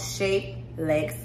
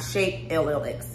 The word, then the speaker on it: ShapellX: the company is called shape legs s-h-a-p-e-l-l-x shaped legs not shaped llx lex is how you pronounce it um the owner is